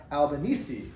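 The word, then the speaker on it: Albanese: So now we're gonna do a more modern we'll go number six more modern person Francesh Franc Franchesca Albani and um E is pronounced at the end.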